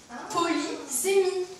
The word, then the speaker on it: polysémie: Polysémie. Très bonne prononciation.